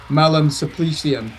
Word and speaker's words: Malum Supplicium: pronounce this in Pidgin Latin as Malum Supplicium.